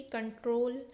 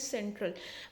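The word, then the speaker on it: control: hair you कैन सी कंट्रोल सी टी आर एल जो लिखा हुआ है बहुत बार मैंने देखा है बच्चे इसको प्रोनाउंस करते हैं सेंट्रल बट इट्स नॉट अन सेंट्रल इट्स अन कंट्रोल की शिफ्ट की डेंसिटी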